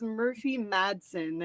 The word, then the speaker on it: Murphy Madsen: It's Murphy Madsen, and then the shortened is just Murph.